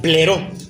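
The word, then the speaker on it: πληρόω: Entonces después hablaba esta palabra que hablábamos que era llenó a plenitud, llenó toda la casa del griego pleró. Pleró con doble o acento en la primera o que significa ser repleto.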